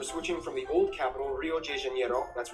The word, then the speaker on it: Rio de Janeiro: from the old capital rio de janeiro that's right it's pronounced rio de janeiro not rio de janeiro get it right we're not in mexico this is portuguese not spanish this was done in